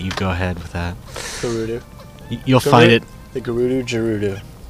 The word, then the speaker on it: Gerudo: Gerudo.